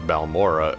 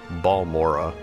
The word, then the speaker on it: Balmora: Because obviously I was calling it Balmora earlier, but it's apparently Balmora. Or, however he said it.